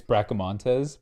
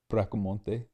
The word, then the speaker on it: Bracamontes: it out oh okay it's bracamontes oh yeah get rid of the s it's like bracomonte yeah i like to